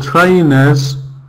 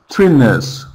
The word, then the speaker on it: trainers: If you pronounce for example trainers like twiners twiners then we don't understand.